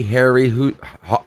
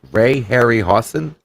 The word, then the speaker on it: Harryhausen: even hold up today you tell my ray-ray Harry hoo ha am I saying it right Ray Harryhausen Ray Harryhausen I don't eat Jeff sorry these